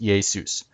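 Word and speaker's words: Ἰησοῦς: Jesus in Greek is spelled Iesius. This letter is, the I-looking letter is iota, this is eta, this is sigma, this is omicron, this is upsilon, and then the last one is just another form of sigma. So this is one form, this is another form, same letter, and it's pronounced Iesius.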